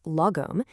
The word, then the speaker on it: Lagom: Lagom, pronounced Lagom, is this beautiful concept that roughly translates to not too little, not too much, just the right amount.